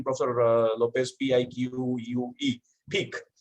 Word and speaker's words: pique: If that's the right pronunciation, Professor Lopez, P-I-Q-U-E, pique, right?